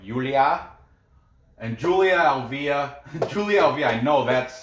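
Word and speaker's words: Julia Avila: you what yaz like julia and julia alvia julie alvey i know that's how you say it she's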